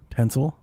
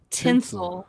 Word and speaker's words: tinsel: Tinsel. What am I not saying? Saying tensil like ten. Tinsel. Yeah, I'm saying it right. Tinsel like pin instead of pen.